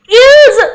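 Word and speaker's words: ils: इल साप्लो means, ये मैंने इल्स बोल दिया, वैसे तो हम इसको इल ही बोलते हैं, ठीक है, ये आपकी लर्निंग के लिए मैंने इल्स बोला है, बट अदरवाइज इसकी प्रोनाउंसिएशन इल ही होती है, क्योंकि आपको पता है ये एल और एस दोनों के दोनों कॉन्सोनेंट है, तो हम इसको प्रोनाउंस नहीं करेंगे एस को, तो यहां पर इल ही होगा।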